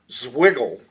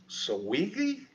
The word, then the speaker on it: Zwingli: Following Italy's golden tongue orator came a man from Switzerland, Zwiggle. Is, I think how we pronounce that. Zwingli.